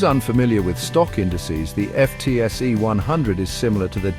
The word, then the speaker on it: FTSE: The FTSE 100, often pronounced as FTSE, is a stock market index that represents the 100 largest companies listed on the London Stock Exchange.